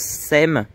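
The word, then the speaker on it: Sepmes: SEM et Ligueil enin ça s'écrit SME mais on prononce SEM entre sainemort et Ligueil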